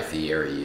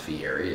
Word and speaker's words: Fieri: I'm sure you guys all know who Guy Fieri is. It's actually not pronounced Fieri, it's Fieri.